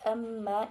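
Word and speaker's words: أَمَّا: Yang pertama yaitu pada lafaz amma hukum bacaannya yaitu gunah sebab mim berharokat tasydid, dan cara bacanya yaitu dengan dengung serta ditahan 3 harokat.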